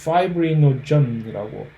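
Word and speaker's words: fibrinogen: 원래 피브린이라고 하는 영어로 파이브린이라고 발음을 하는데 그다음 피브리노겐은 파이브리노전이라고 이름이 조금 파이브리노전이 활성화가 되면 파이브린이 되거든요.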